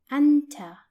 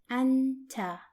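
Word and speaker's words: أنتَ: and you are for masculine singular which is pronounced in Arabic as Anta Anta and it's written like this now let's see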